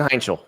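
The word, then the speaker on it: Heintschel: Mason Hechel.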